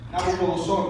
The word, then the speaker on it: Nabucodonosor: Nabucodonosor, that's how you say it in Spanish.